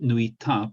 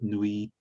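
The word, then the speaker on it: 脱いだ: Not nuita, but nuida.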